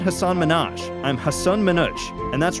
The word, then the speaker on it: Hasan Minhaj: I start an France I hear people pronouncing it Hasan Minhaj France said I'm almost positive that's not how we say it Manoj confirmed and added there is no Hasan Minhaj that's my Clark Kent it's a brown thing